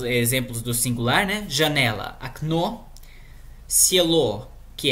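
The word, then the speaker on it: окно: a, e ainda mudei a sílaba tônica para o início, okna, né?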